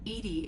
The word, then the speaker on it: EDI: Why are you named Edy? Edy is the phonetic pronunciation of EDI. That is an acronym for enhanced defense intelligence.